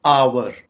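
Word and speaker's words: hour: इसकी correct pronunciation है आवर। आवर आम तौर पे इसे आर बोला जाता है, जो कि गलत प्रोनाउंसिएशन है आवर, यानी घंटा।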